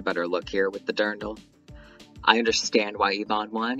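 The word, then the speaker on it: dirndl: call it right now I just looked it up wiary says durndle we're sticking with durndle now I think that Pandora had a better look here with the durndle I understand why Ivon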